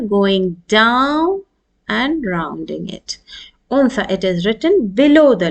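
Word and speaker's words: أنثى: So you will, how will you pronounce? Un. Un with a pause on noon, and tha is the third letter with 3 dots.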